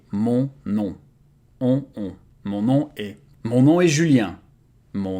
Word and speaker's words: mon nom: It's funny because in French, O and N and O and M are pronounced exactly the same way. Mon nom.